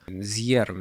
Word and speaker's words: Zjerm: З'єрм він читається. Правильно.